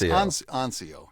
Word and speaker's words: Anciaux: A But can we say my last name correctly? Do you mind if I pronounce it this morning? There it is. Anio.